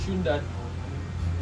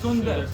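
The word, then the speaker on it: सुंदर: Shundat. Sundar. Sundar. Oh. How do you say not Shundat? Not so. But Sundar.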